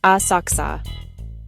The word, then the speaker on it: Asakusa: Welcome to Asakusa, pronounced Asaka.